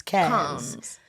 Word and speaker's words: Cannes: And then also we went to Cannes or Canes or however people pronounce it. Cannes.